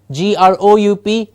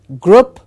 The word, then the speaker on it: group: next one as well gr OUP I've I think heard it a million times mispronounced as group it is not a short sound it's a long blue sound it is group group